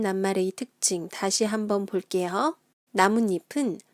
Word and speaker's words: 나뭇잎: 나뭇잎은 순 우리말이 들어간 합성어예요.